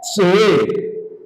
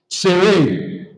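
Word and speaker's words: צֵירֵי: The first one is called sere. Sere. Sere.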